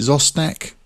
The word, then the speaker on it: Zostak: Is it Zostak? Is that how you pronounce it? Let me have a go. Zostak, yeah, that's right.